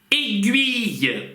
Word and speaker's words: aiguille: Aiguille. Иголка. Aiguille. Гуille. Гуille. Гуille. Гуille. Гуille. Aiguille. Aiguille. Естественно, гю, гю, гю. И потом и идет. И два читается как и.